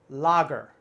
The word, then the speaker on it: lager: don't be confused the a is not a long a here it's more like a short o ah lager lager very good to